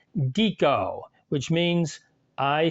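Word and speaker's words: dico: is the vowel I the long I for instance in classical Latin sounds more like our long e for instance in our words squeak so this Latin word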